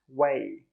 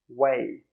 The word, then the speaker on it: way: The first one is pronounced way, way. Now you try, way.